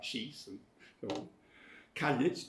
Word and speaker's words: Caillit: Caillit, 2 syllables. Caillit always has 2 syllables in all Manx texts that I've ever seen. So I don't know where the idea of pronouncing it in 1 syllable came from.